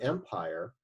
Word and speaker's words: empire: And because the E is silent at the end, this counts as only 2 syllables and not 3.